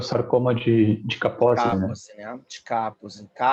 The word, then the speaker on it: Kaposi: húngaro e parece que o nome dele soava como Kaposi, né? Eu já falei com o húngaro para saber como é que a gente pronuncia. E eles, olha, pode pronunciar de qualquer jeito, porque ele viveu na Áustria, então eu chamo de Kaposi, acho mais eufônico.